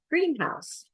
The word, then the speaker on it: greenhouse: first syllable stress but if you have an adjective plus a noun it's usually second syllable stress so if we had the word Greenhouse it's where they have plants right versus green house I might live in a green